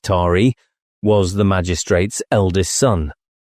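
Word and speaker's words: Taë: The child, whose name was Tay, pronounced Tari, was the magistrate's eldest son.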